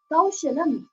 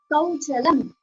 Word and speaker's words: Kaushalam: In this verse, Swamiji pronounces the word Kaushalam as Kauchalam. Again and again, Swamiji will mispronounce this word purposefully when recite this word,